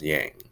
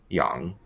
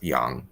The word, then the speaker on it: Yang: our last name is usually pronounced as yang which is pretty normal it's the standard romanization but her actual last name is pronounced young and that's oh that's young and that means son